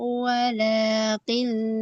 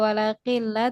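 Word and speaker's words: وَلَٰكِن: Ala innahum humus sufaha'u walakin la ya'lamun. Oke, huruf kaf hati-hati tidak menjadi ke qaf, tadi tidak walakilla tapi ki, ka, kiku. Pengucapannya seperti huruf K dalam bahasa Indonesia.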